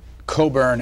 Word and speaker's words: Cockburn: I'm not responsible, but all Coburns carry this mission through life: is your name is spelt Cockburn, but you pronounce it Coburn.